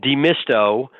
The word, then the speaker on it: Demisto: And in a more integrated, it's also a different way though, because so what happens with companies, and it's Demisto, that is into demystify, and yes, I've seen this before.